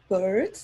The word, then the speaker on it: Beard: And that's Bird. That's not pronounced. Because it's usually, beard, like facial hair.